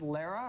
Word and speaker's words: Lara: It's pronounced Lara as opposed to Laura.